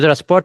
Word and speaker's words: transport: Transport is if it is noun we use puts the stress on the first syllable and if it is a verb we put the stress on the second syllable.